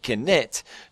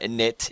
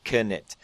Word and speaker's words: Knytt: watched my J Smith IRL video, I now pronounce it Knytt because I watched a video with actually Nifflas, the creator, in it, and that's how he pronounced it. So it's not Knytt, it is Knytt.